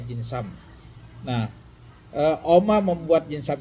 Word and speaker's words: Dinsum: Jinsam ini kalau tulisan anu di anunya jinsum temnya tapi bacanya jinsam.